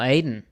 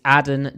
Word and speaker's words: Aden: know that oh really it's not it's not Aiden oh wow it's Aden durdey Aden wow that took me